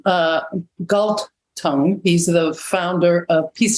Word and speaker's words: Galtung: And so John Gut, I always mispronounce his name, Galtung, he's the founder of peace studies.